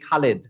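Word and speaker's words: খালিদ: খুব হর হামেশা বলি খালেদ বলি না খালেদ খালেদ আসলে হবে হচ্ছে খলিদ খলিদ খলিদ খলিদ কারণ ল এর কাসরা আছে তাহলে খলিদ তার মানে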